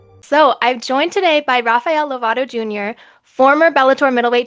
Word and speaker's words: Rafael: A lot of people will say Rafael, or they just kind of abuse instead of Rafael, it's like Raphael, or I live in Oklahoma, so sometimes they don't say it right.